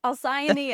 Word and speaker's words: Alcyone: Alcyone and Miro, but we can call them Allie and Mary.